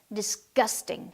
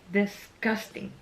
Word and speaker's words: disgusting: disgusting. Disgusting.